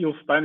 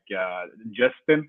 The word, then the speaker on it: Jostein: It's a really Jostein is a really Norwegian name. So when I come to the English language, it's more easier to call me Justin. It's like the name for Justin. So yeah. So like Justin.